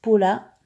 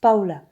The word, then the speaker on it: Paola: Ça s'écrit Paula. Beaucoup de personnes disent Paula, mais sinon on prononce Paola.